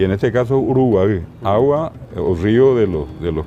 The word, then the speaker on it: Uruguay: uruguay y hoy decimos uruguaya así como paraguay es para guardiola está ahora la gente dice hasta paraguay ver la correcta pronunciación uruguay es el caracol de mar en realidad nasal uruguay y el guaraní